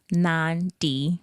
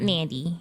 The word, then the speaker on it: Nandi: And it's pronounced Nand D. Yeah. Not Nandy.